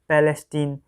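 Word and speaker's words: Palestine: Pronunciation होता है हमारा इसका पैलेस्टीन।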